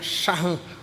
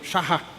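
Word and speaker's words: שחה: uma palavra hebraica que pronunciando-se em português ficaria shahan shahá, perdão, shahá.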